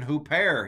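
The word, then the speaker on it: ὑπέρ: I'm saying huper here in Erasmian Greek. Huper. Huper. The accent's on the second syllable.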